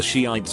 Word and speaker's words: Shiites: I remember in high school one girl was giving a presentation on something and kept mentioning the Shiites but pronounced it ites for her whole 10-minute thing.